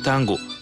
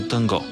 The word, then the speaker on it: танго: двамата от комуникацията а относно спора за ударението на думата народния си испански танц се нарича танго но у нас той е навлязъл от франция така че наричайте го по-скоро танго ако сме успели да